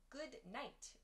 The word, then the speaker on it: goodnight: you pronounce goodnight yeah good night we sometimes say goodnight goodnight so that in good is dropped we remove that good sound and we say good night good night so good night